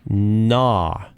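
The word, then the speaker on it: Gnaw: what does it say that's a tricky word because the g is silent you don't say the g nah it's like it's like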